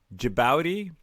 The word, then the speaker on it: Djibouti: Djibouti, Djibouti?